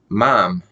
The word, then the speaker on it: ma'am: this female person but when the British pronounce ma'am they say mom it sounds like they're saying mom like mother that's not so that's